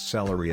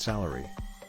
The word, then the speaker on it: celery: Celery is a pleasant vegetable, pronounce celery as it is written, and not a not salary.